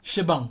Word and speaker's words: shebang: Si on combine les deux, ça fait shabang. Shabang. Et au fur et à mesure qu'on prononce ça rapidement, ça va donner shebang, comme ça.